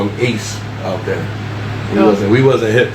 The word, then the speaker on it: AC: Apparently they call him Ace out there. We wasn't hip that they call him Ace out there.